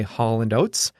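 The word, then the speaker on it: Hall & Oates: as Hall and Oats we don't even say it like two names we just say Hall and notes like one word anyway the song is Rich Girl by Holland oats it's about a spoiled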